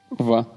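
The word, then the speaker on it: vingt: Vin.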